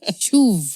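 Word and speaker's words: שוב: No, not shoe. Shuv. Shuv. Is it Greek or Hebrew? It's Hebrew. Okay, Hebrew.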